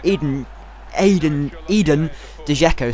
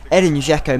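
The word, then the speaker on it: Edin Džeko: pass it out from the goal kick, and Eden Dzeko, sorry, I couldn't pronounce his name. Edin Dzeko makes it 5-1, and it was just awful.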